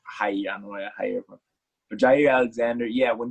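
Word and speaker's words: Jaire: It's, correct me if I'm wrong, Hari Alexander. Is that how you say it? I'm pretty sure it's Jair Alexander.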